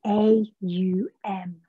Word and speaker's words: Aum: Om is often spelled O-M where we see it. But you may less often see the spelling A-U-M. Aum. Aum. That's the way that we're going to pronounce Om now.